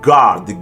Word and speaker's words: guard: U may appear reasonable, but evidence to the contrary is not difficult to find. Build, catalog, dialogue, colleague, guard, guess, laugh, league, tongue.